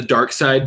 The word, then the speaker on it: Darkseid: her a picture of Darkseid now you guys you've seen Darkseid it's actually spelled like dark seed dark SCO ID um totally seen him